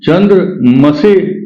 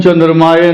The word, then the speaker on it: चंद्रमसे: ओम चंद्रमसे नमः। कुछ लोग बोलते हैं ओम चंद्रमाय नमः, ये शुद्ध नहीं है, ये गलत है।